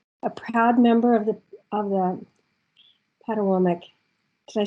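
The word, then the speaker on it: Patawomeck: proud member of the Patawomic. Did I say that right? I looked it up, and I looked up the pronunciation, and it was Patawomic, but I just haven't said it very much.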